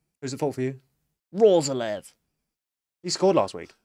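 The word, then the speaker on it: Roerslev: Rozalev. He scored last week. It's a fun name to say. It is. Rozalev. It's spelt completely differently to how it's supposed Roeslev. To say.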